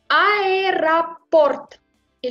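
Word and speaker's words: аэропорт: Voilà pourquoi il faut prononcer ce O comme A.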